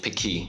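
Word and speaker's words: pequi: to eat this food it's called picky with the stress on the second syllable so I think in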